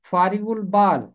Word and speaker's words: فارغ البال: پہلا باب اس کی 32ویں آیت۔ اس کا تلفظ ہے فارغ البال، فارغ البال۔ نادانوں کی برگشتگی ان کو قتل